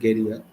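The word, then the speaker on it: Guerilla: cricket show the Guerrilla if you want to be exact uh on the uh pronunciation it's called gerilla but gerilla cricket cricket.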